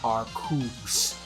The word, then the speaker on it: Arceus: I'm sorry, it's pronounced Arceus.